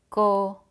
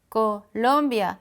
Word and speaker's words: Colombia: Colombia. You hear the accent is here. Colombia, but no accent because this is an A.